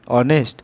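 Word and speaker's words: honest: তারপরে রামবাবু is dash অনেস্ট ম্যান, এটা অনেস্ট ম্যান, উচ্চারণটা কি অনেস্ট, অর্থাৎ এইচ থাকলেও শুরু কিন্তু উচ্চারণটা ভায়োলের মতো, এই কারণে অ্যান আসবে। Choose the correct part from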